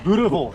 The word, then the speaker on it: boerewors: So that's boerewors.